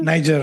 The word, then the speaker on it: Niger: This one is it's from Africa and the place is called I think Niger or Niger. Niger. That's how you pronounce it.